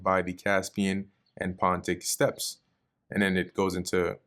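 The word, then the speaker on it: steppe: Oh, step. Okay. Like I wasn't pronouncing it right. Step. Yep. So step, not steep.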